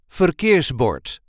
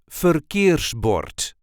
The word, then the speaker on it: verkeersbord: a regular Dutch accent forbort or a traffic sign this is the way we say forbort I know the rolling R is a bit difficult so try this one